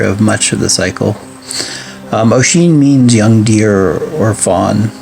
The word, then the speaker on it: Oisin: So the tale of Oisin or Oisin, the Old Irish pronounced Oisin, was the son of Fionn McGowan and Sub, the daughter of Bodurg.